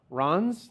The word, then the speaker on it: Reims: interview was over he drove back to Ron's that's how it's pronounced yes Ron's yeah so I'm like that looks like Reims but you know when